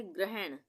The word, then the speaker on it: ग्रहण: और जब हम बोलेंगे ग्रहण, ग्रहण, तो ग में पदेन की मात्रा लगेगी ये आधे र के उच्चारण के लिए।